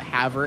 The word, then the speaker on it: Havre: And so this is a story from his dad out of Montana, out of the Havre area. Havre, Montana, H-A-V-R-E, because it's spelled weird.